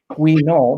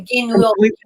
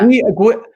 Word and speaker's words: Guignol: Anaïs Nin and the Grand Guignol. Did I pronounce that correctly? No, you did wrong. A Guignol. It worked for me, Matt. Guignol. Guignol.